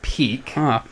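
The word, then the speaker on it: Pieck: get peak walking in so it is pronounced peak stupid name who had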